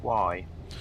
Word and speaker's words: Wye: It's called Y. Actually, no. It's Y. WYE. It's called. It's spelled.